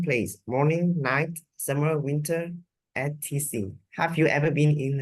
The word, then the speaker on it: etc.: ETC, you will pronounce that etc. Yeah. Etc. Rồi cái này mình sẽ phiên âm theo cái kiểu giữ nguyên cái gốc Latin luôn ha. Cái này từ chữ Latin ra. Mình đọc, mình thấy nó thì mình sẽ đọc là etc.